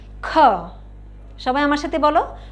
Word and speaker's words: খ: খটা কিন্তু একটু ধাক্কা দিয়ে বলতে হয়, ঠিক আছে? এটার উচ্চারণের সাথে হ উচ্চারণ হবে, বুঝতে পেরেছ?